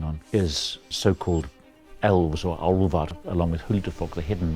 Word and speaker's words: álfar: One of the areas of research that I've been working on is so-called elves or álfar, along with Huldufólk, the hidden ones that Icelanders are so interested in.